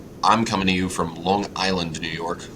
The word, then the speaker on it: Long Island: coming to you from Long Island New York otherwise known as long guide land yes um if you uh pronounce it that way I'll be hosting the